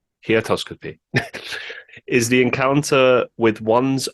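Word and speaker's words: heautoscopy: how you pronounce this heotoscopy so h e in an autoscopy he atoscopy is the encounter with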